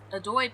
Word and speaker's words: Adoy: So now we have to go see this Adoy person. And yes, I do know for a fact that that's how it's pronounced, because I've heard it a lot.